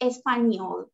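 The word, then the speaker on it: Español: Only the N is like N sound. So it's Espanol.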